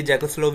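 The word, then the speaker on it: Czechoslovakia: नहीं है बाकी यह ज कोस्लोव है इसमें सी साइलेंट होता रोमानिया बल्गेरिया अल्बेनिया यूगोस्लाविया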